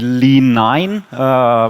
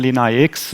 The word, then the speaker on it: LeanIX: learned Roman numerals, so it could also be Lean9, but that would be a wrong interpretation. So I stay a little bit with the English pronunciation, LeanIX, but we have the same issue with Adidas, because in the US everybody says adidas, so there's a different pronunciation in different languages. But LeanIX or LeanIX, I think we were joking this morning, both is okay.